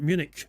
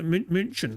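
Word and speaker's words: München: you know like um in Germany it's not Munich it's m it's m you know munchin or whatever you know I mean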